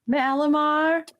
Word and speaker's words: Malamar: It's like Malamar.